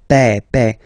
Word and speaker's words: père: Remember, E accent grave like that. It's this opened E. Père.